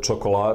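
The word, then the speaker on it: čokolada: Now, ch, it can be heard in the word chocolat, that means chocolate, so ch.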